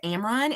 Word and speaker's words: Amron: again my name is Amron and if you guys are having problems pronouncing it that's like Cameron without the ca um again I'm the